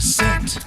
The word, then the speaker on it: scent: No, I think the C is silent. You drop the C and it's the same word, right?